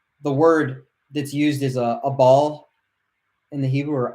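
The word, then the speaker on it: אבל: from each other, the word that's used is a ball in the Hebrew, or Abal, Abal, is how you spell it.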